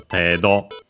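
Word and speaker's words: 程度: An accent actually, so tedo, degree, amount, and so on.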